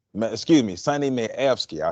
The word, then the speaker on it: Mayewski: So once again, people, Sonnie Mayweski, excuse me, Sonnie Mayewski.